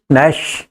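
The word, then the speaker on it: gnash: पर दांत क्यों पीसेगांव नेश जी साइलेंट राइट चलिए बंदर बच्चों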